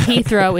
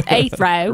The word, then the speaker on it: Heathrow: We were not reprimanded, but we were corrected on the proper pronunciation of Heathrow. Yeah, it's not Heathrow, it's Heathrow.